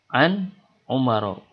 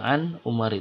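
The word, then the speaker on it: عُمَرَ: Nah, karena Umar ini adalah ghair munsharif, tidak boleh ditandai dengan kasroh ketika khafad. Maka kita bacanya menjadi an umaro. Tidak boleh an umari dan juga tidak boleh pakai tanwin.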